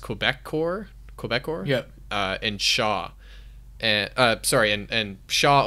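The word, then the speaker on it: Québecor: So we have, I think it's pronounced Quebecor?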